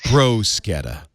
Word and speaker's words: bruschetta: Actually, Leo, and it's pronounced. This is how it works. Bruschetta.